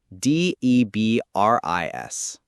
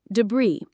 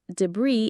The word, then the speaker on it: debris: D E B R I S. Debris. The IPA is debris in the US or debris in the UK.